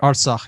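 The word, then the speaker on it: Artsakh: I might be Ars, pronouncing that. Arsach, yes.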